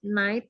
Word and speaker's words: night: Jadi itu night itu GH-nya silent.